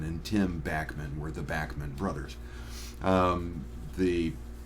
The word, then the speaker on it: Bachman: Tim backman were the backman brothers um the the family pronounces the name backman um Canadian radio Personnel pronounced it as Bachmann but when they broke in the United States suddenly they became Bachmann so the band is